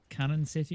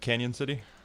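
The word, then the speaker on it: Cañon City: because you're in um cannon city is it yep canyon city canyon city yeah it's got the the tilde on it so it's pronounced canyon that it works either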